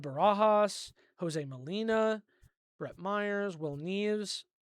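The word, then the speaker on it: Nieves: Jose Molina, Rhett Meyers, Will Neves, or Will Nes I think is actually how you say it.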